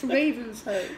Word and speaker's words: Ravenshoe: Now, we pronounced it as you would. Ravenshoe. It's spelt Ravenshoe. Do you know how you pronounce it, Bunty? Ravenshoe. And the locals are very... If you say, oh, it's we're going through Ravenshoe, they go... Idiot, it's Ravenshoe.